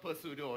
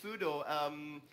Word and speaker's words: pseudo: Why pseudo? And why is the silent P in there? Well, that's just the English language, really. Yeah, all right. It's not per pseudo. It's just pseudo.